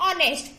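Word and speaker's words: honest: हमें H silent है यहाँ पे तो क्या बोलते हैं? ऑनेस्ट.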